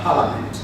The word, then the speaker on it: Parliament: You know, the letter I between the A and M, Parliament, is rather silent. So you don't pronounce it as Parliament, it is rather Parliament.